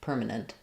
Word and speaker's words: permanent: If you see the e, it makes you think like nent. And it's really not the e vowel. It's a more reducedwah or i sound. Permanent.